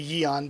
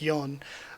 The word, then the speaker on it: Yeon: how i always say yeon but it really should more be pronounced like yon a lot of the